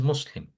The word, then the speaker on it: Muslim: The right way to say it is Muslim.